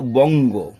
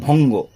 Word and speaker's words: বঙ্গ: উচ্ছল বলে ফেলে, উৎকল, বঙ্গ, এখানে ছাত্রছাত্রীরা ভুল করে ভঙ্গ।